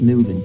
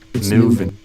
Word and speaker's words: moving: keep we keep projects moving, and we new versus moo. It's moving. Moving. Moving. I would do moving. Moving. So, there's a little bit of a difference in the oo.